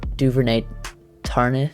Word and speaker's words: Duvernay-Tardif: Like, they brought back almost the entire team, and they did have some bad opt-outs with Damian Williams opting out and Laurent Duvernay-Tardif, I think is how you say his name.